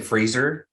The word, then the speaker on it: Brendan Fraser: It's not Fraser. It's Fraser. Brendan Fraser The It Golden is? Globe. Yeah, it's Fraser. He's cleared it up. It's not Fraser, it's Fraser. Huh. Like a razor.